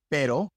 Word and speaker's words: pero: So what is the rule? When is the R soft as in pero and when is it hard as in rapido? Well, basically the rule is if the R is at the beginning of the word, it is hard. That's why it is hard in rapido and rosa. If it's in the middle of the word, it is soft.